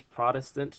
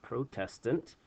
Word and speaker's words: Protestant: whole word Protestant, and that is the correct way to say it. It's Protestant, not Protestant. That's how I used to pronounce it in middle school until one of my teachers corrected me.